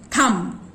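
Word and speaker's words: thumb: थम के अंदर भी बी की साउंड साइलेंट है, बी होते हुए भी उसकी ब साउंड सुनाई नहीं पड़ती।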